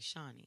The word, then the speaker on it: Shani: to me his name Shani Davis he's in a long track speed shiny spell shiny for me shiny Oh like shiny I'm not judging we